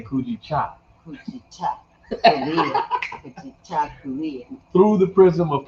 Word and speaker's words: Kujichagulia: me, I'm African, it's hard for me to pronounce it, but it is what it is. It's Kujichagulia. Kujichagulia. Kujichagulia. Kujichagulia.